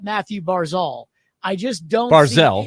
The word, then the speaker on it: Barzal: Barzal, I just don't Barzell, see even though it's spelled Barzal.